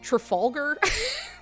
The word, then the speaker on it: Trafalgar: to tell you how to say so it's pronounced trfalar by the way.